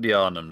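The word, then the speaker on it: Yharnam: wasn't old J I'm sorry I got the name wrong it was that nightmare that nightmare place if there's an old yarum does that mean there's a new yarum yes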